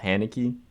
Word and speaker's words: Haneke: Okay, this week's film is The Piano Teacher, directed by Michael Haneke. That's how you pronounce his name.